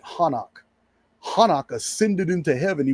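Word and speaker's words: Hanokh: It was told in it was told by the early Hebrews as Enoch. They pronounced it Hanok.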